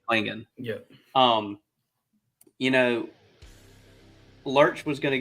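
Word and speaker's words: Clingan: I know I call him Cleon because it just rolls off the tongue well. Donovan Klingon that's how you say it, Klingon.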